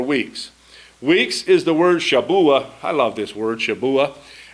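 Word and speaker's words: שבוע: krian shabua and I used to always go Shabu Shabu and he got tired of that so he got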